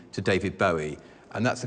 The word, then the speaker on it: Bowie: you that I've now changed dav's name to David Bowie and that's the correct pronunciation he named it self after the Bowie